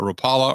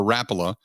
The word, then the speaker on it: Rapala: It's a, depending on how you say it, a Rapala or Rapala fishing lure.